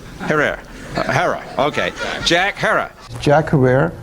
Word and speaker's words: Herer: Have I pronounced it correctly, Jack? Herer. Herer.